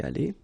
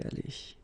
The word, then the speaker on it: allée: Phonetically, you don't hear it. It goes like aller, so exactly the same thing as here, or the same way. So, elle a été allée.